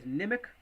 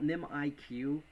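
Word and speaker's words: Nimiq: um this is uh sometimes I call I call nim IQ but I guess you pronounce it nimic um so what is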